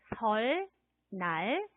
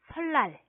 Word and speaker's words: 설날: 설날, 설날. 자, 따라해 볼까요? 설날, 설날. 그래요. 리을 받침하고 니은이 만나서 뒤에 오는 니은이 리을로 소리가 납니다.